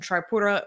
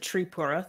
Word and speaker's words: Tripura: Online coverage of the protests and violence in Tripura is trending on Twitter with the hashtag Tripura